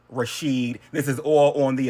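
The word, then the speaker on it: Rishid: His name is Rashid. R I S H I D. Rashid.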